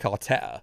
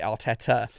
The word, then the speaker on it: Arteta: He probably He probably sings Super Mick Artetta even though he actually pronounces it Arteta.